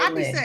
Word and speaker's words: Eiland: Now, do you pronounce that Island? Like I'm from the islands. E is silent.